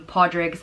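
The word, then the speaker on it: Pádraig: in Ireland you're from because I know some pod rigs and I know some parks and they're both spelt the same way but and I guess you just decide how you want to pronounce based on where in Ireland you're from maybe yeah and Podrick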